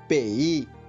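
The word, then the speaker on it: 北: अब इसका ध्वनि वादन सुनिए, पेई, पेई, पेई। इसका अर्थ है नॉर्थ, अर्थात उत्तर। यदि हमें उत्तर दिशा बोलना है तो हमें बोलना होगा पेई पियन, पेई पियन, पेई पियन।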